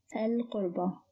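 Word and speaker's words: القربى: Originally it is qurba, which means relatives, and it starts with qaf, which is a moon letter, so it is pronounced as al-qurba.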